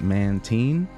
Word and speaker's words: Mantine: The reason why I get weird with that is because I pronounce it Mantine, you know, like saltine crackers.